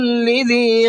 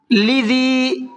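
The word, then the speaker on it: لِذِي: قسم لذی حجر، لذی اس لفظ کے اندر عام طور پر لوگوں سے غلطی یہ ہوتی ہے اس کو لذی پڑھتے ہیں، حالانکہ یہاں پر دیکھیے آپ لام کے نیچے زیر ہے، ہجے کریں گے تو اس طرح سے ہوگی، لام زیر لی، ذالیہ زیر زی، لذی، لذی نہیں ہے بلکہ لذی ہے۔ حجر، یہاں پر ہا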